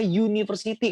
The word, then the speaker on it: university: Nah, tapi jangan sampai untuk university, wah ini vokal nih, berarti en, bukan ya teman-teman, dia university kan bacanya ya, university. Berarti huruf Y bunyinya, university, kan itu huruf Y di awal katanya, berarti teman-teman gunakan kata bukan en.